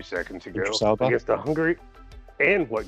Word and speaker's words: Idris Elba: it's a film that will hopefully get us to watch, and I can never pronounce that boy's name right. Idris Gatekeeper for Elba. Thor. Idris Elba.